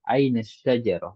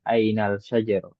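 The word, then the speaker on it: أين الشجرة: Kalau berarti itu alif lam samsiah ya. Nah, kita langsung masuk ke ainas syajarah, bukan ainal syajarah.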